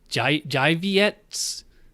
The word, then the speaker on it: Żywiec: This is the Polish beer, spelled with a Z, but it's Polish, so it's not pronounced like a Z. I believe it's pronounced je-vi-ets, je-vi-ets.